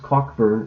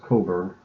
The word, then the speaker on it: Cockburn: It's not pronounced Cockburn, it's pronounced Coburn.